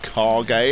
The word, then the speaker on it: Kage: The Legend of Kage, or the Legend of Kage as it's apparently pronounced, came out in 1985, and honestly, I'm not the biggest fan.